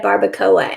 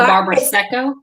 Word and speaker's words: Barbaresco: say it right, because I've been calling it a barbacoa, and that's not what it is. It's not it. There's an S in there. Yeah. I think it's a Barbaresco.